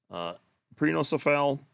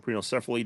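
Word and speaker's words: Prenocephale: Prenocephal, or Prenocephaly, depending on how you want to pronounce it.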